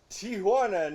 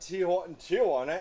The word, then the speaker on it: Tijuana: his open your Mis it's Tijuana not TI Tiana and by the way